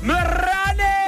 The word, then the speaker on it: Miranni: It rhymes with chicken biryani. Miranni!